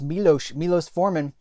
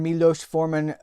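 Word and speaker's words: Miloš Forman: I think we pronounce his name it's like I want to say Milos. I think it's Milos Forman.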